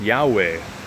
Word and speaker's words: Yahweh: Below is the math for the numerical value of YHWH, pronounced Yahweh, and written in Hebrew as that.